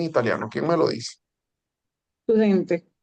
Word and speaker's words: studente: Studente. Estudiante. Studente, con la ST, ¿no? Studente. Y si yo quiero decir Studente. estudiante, ¿Cómo se cortó? ¿Si quieres decir qué? el estudiante, Il Lo Lo studente.